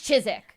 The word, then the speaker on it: Chiswick: place called Chiswick, and they were like, it's Chiswick. I'm Oh, like, yeah. all right. Leicester cool. is also spelled like Yeah.